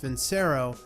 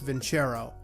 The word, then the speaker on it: Vincero: Shara now until recently I always thought the brand was pronounced Vince Aero but after I recently skimmed through their website I guess it's actually pronounced VIN Charo so for the remainder